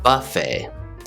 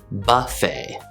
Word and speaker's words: buffet: as you can see flo pronounces the word buffet buffet the stress is on the first syllable buffet buffet in american english the way i said it we stress the second syllable buffet buffet no robert